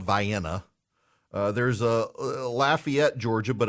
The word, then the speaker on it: Lafayette: in Lafayette Louisiana um those of you in Georgia who pronounce it Lafayette and I realized I got an affiliate in Lafayette um it's Lafayette um I I just I